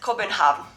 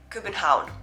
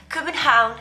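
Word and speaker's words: København: is this one here i used to pronounce it kobenhav yeah i know it sounds stupid but if you don't know danish you won't ever think about pronouncing it kubenhaun like the danish kieran would tell me oh it's not copenhagen it's kubenhaun yeah don't say copenhagen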